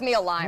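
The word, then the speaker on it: Mealime: It's meal time without the T in the middle. So it's the only difficult thing is how to pronounce it. Okay. We'll go with Meal Lime.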